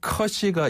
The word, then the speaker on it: 可惜: 커를 한번 이렇게 마치 도로에 포트홀 그렇죠. 밟고 올라오는 것처럼 네. 살짝 밟고 올라왔다가 시는 평탄하게. 평탄하게. 쩐 커시.